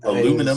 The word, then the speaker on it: aluminum: I mean, the funny one was aluminium. I mean, oh, sure, the American pronunciation aluminum.